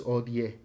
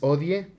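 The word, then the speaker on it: hodie: Pane nostrum quotidianum danobis odie es odie, no es odi porque este no es inglés se pronuncia esta e de al final.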